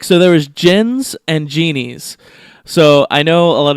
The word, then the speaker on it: Djinn: I've noticed a lot of people pronouncing it like Ginny or Jinai. And I'm just like, really? Do you not realize that it's Genie?